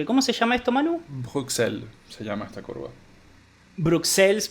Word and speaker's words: Bruxelles: Bruxelles se llama esta curva.